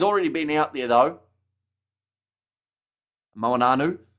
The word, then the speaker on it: Moanu: Moanu, that's how you pronounce his name, says there. Yeah, sometimes I get the N in the wrong place and end up just sounding like I'm singing a bit of Hey Jude with the N.